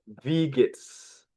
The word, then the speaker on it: wie geht's: Use the question, wie geht's? Wie geht's? Okay, okay. Pay attention how I read it. Wie geht's? Wie geht's? I repeat again, wie geht's? So in Dutch, in German, W is V.